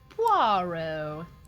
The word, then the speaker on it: Poirot: Poirot. Poirot. Don't pronounce the T at the end.